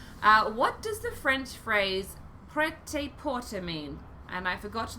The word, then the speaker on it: prêt-à-porter: Prêt-à-porter. That's how it's pronounced.